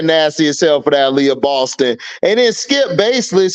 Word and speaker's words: Aliyah Boston: as hell for that leyah Boston and then skip baseless he mispronounced her name he called her Alyssa Boston I'm like who the